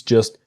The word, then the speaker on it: just: Things just shouldn't be so complicated and things just shouldn't be. So the T in just is silent and the T in shouldn't silent.